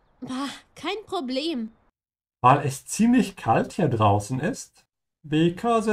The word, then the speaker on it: ziemlich: Weil es ziemlich kalt hier draußen ist. Because it's pretty cold out here. Draußen is outside. Remember to pronounce that sound like a TS, ja, ziemlich.